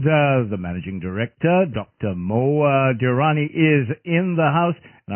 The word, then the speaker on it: Dirani: MOA Durrani is in the house and I'm a pronouncing your name right demo correct again that